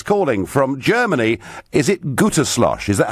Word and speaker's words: Gütersloh: Is it Gütersloh? Is that how I pronounce it, John? It's Gütersloh.